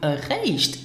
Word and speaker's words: eréischt: I am talking about erreicht. Now listen and repeat after me for the correct pronunciation.